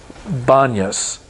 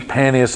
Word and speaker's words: Banyas: It's known as, there's no P, and they pronounce it as Banyas, They can't pronounce the P, Panias, and they make it Banyas.